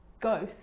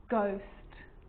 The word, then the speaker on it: ghost: With a G, ghost, ghost. And with an R, rhythm, or rhyme.